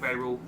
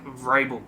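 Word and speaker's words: Vrabel: think they have their head coach in Mike Bay rule I probably just butchered that name as well Mike Mike Rabel there we are um and yeah it's just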